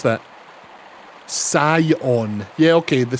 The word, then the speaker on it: Scion: There's there skion. Scion. How would you pronounce that? Sion. Yeah. Okay. The scion.